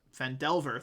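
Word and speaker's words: Phandelver: Fendelver, thank you.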